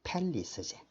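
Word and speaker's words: palace: 자신의 팰리스지. PA, place가 아니고 A가 붙어서 발음은 뭐다? 팰리스 되겠지.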